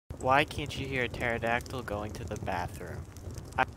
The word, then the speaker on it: pterodactyl: can't you hear a pterodactyl going to the bathroom i i don't know why because the p is silent i